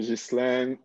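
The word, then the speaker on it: Ghislain: another name g h g-h-i-s-l-a-i-n how do you say that hi everyone i'm jislan i'm a compulsive advisor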